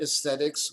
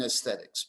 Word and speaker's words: aesthetics: british english you write aesthetics with the diphthong ae but in america especially the pragmatist philosophers they didn't use the a in aesthetics because you don't pronounce the a in fact they write